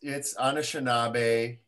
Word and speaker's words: Anishinaabe: And Dane, would you mind pronouncing the land for me that you're calling in from? It's Anishinaabe.